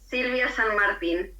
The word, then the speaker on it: Silvia San Martín: Did I Did I get somewhere close to pronouncing your name right? It's okay. Sylvia San Martin.